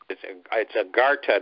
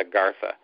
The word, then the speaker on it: Agartha: Yeah, he without the H, it's Agartha, not Agartha.